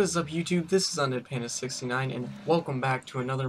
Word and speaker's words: Anjanath: Now, in this video, as you're going to be seeing, is going to be me against the ANJANATH. That's how you actually pronounce it.